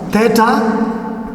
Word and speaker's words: theta: from your mathematical class this one is pronounced as theta some of you when you are doing your mathematics class you could pronounce this one as theta theta but still the same the same pronunciation wherever you see this